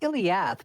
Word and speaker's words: iliac: question this is ill well it's iliac but you keep you keep ignoring the uh middle syllable there i know right um